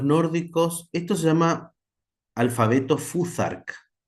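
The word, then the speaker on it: futhark: Esto se llama alfabeto fuzark, como la palabra three en inglés, la th que se lee como una se pronuncia como una Z.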